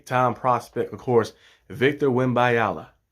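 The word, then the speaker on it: Wembanyama: about is the time Prospect of course Victor wimala wimala yeah I said it right that time call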